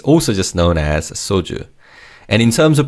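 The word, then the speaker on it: 소주: Soju. This word doesn't have an English word as it's also just known as soju.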